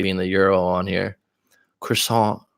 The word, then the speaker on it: croissant: go get some food just had a crew song as they would say in America we say croissant I'm sure Sabina knows how to say it correctly being the euro on here croissant croissant there's a cafe near